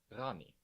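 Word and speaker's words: ღანი: Here is the letter rani. Rani sounds a lot like the French R, pronounced in the back of the throat.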